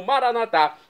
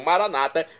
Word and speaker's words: Maranata: E agora eu clamo Maranatá, como dizemos nós católicos, ou maranata, como dizem nossos irmãos separados das comunidades evangélicas ou protestantes. Não importa pronúncia, o significado é o mesmo.